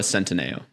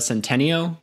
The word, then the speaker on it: Centineo: Noah Centineo. So every other time you said it was wrong. I've messed it. I used to call it Noah Centennial or something.